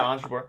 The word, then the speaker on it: Ons Jabeur: How do you pronounce it? Yeah, Ons Jabeur.